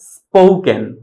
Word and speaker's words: spoken: এস এবং পি এই দুইটা লেটার যদি একসাথে থাকে দ্যাট মিন্স হচ্ছে পি এর পূর্বে যদি এস থাকে তখন এটার উচ্চারণ হবে পি, তখন কিন্তু আমরা ফি বলবো না। সো সঠিক উচ্চারণ হবে স্পোকেন, স্পোকেন, নট স্পোকেন।